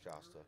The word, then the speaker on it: Jasta: 2011 by the name of jasta am I pronouncing that right jasta jasta okay yeah so I can imagine some